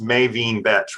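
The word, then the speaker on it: MaVynee Betsch: you know about uh i think it's pronounced maevin betch right she's the american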